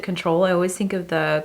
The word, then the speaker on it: CTRL: But this is in the shade CTRL, or I pronounce it control.